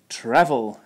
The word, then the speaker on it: travel: hear travel instead of travel again with the short vowel a like an apple I hear college